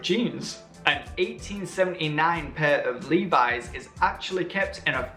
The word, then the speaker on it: Levi's: denim brand levi-strauss well you should pronounce the name Levi is a Levi's 513 skinny strike by